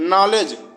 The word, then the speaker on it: knowledge: night में के silent नॉलेज के एन ओ डब्लू एल ई डी जी नॉलेज में के साइलेंट है अगला क्वेश्चन है